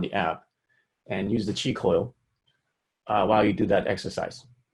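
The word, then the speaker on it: Qi Coil: frequency on the app, and use the chi coil while you do that exercise.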